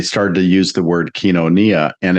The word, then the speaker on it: koinonia: it a little bit um yeah konia it's pronounced kenonia the oi is a is what we call